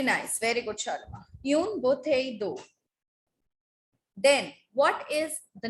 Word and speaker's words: bouteille: Une bouteille d'eau. A bottle of water. Une bouteille d'eau. Ma'am, Yes, you Parth? bottle do. Bouteille. Oh, Double L is silent.